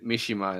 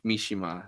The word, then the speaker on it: Mishima: By the way, I pronounced it wrong, and I said Mishima instead of Mishima. And thank you for pointing that out, chat. I feel great about myself. Yeah, enunciation always goes on the third syllable.